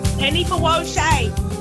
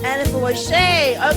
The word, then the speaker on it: Anifowoshe: Did I pronounce it correctly? Anifowoshe. Anifowoshe.